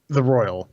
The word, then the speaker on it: Royal: The Royal. It's the Persona 5 the Royal. R-O-Y-A-L.